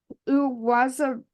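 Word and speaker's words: Uwazurike: So for Enyoma, I got this. Uwazuriki. That's how he did it phonetically himself.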